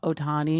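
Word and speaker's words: Ohtani: And so we were like watching on like this this guy named Showa Otani. Shoti, I don't know. I cannot pronounce.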